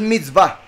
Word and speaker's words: mitzvah: Solo que aquí se pronuncian va. La vav como una V, la hei como una A. Entonces mitzvah.